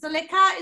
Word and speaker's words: Zalika: this time zalika how did i do zalika is that the right way to say your name yes perfect and for